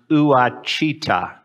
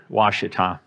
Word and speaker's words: Ouachita: If you've never heard of Ouachita, it looks on a piece of paper like it should be pronounced Ouachita, but it's Ouachita.